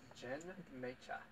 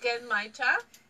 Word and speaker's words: Genmaicha: Genmaicha. It's actually pronounced Genmaicha. That was so close.